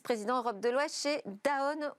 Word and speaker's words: Danone: europe de l'ouest chez danone ou daon si on prononce en français nous et lors de